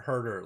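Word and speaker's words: Huerter: if Kevin hurt her how do you say it is a hooter or hurt her hurt her like please for her like you hurt her yeah like hurt her yep gosh okay so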